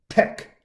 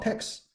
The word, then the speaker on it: TeX: language and the author the author like to pronounce tech not text not text yeah you know many people if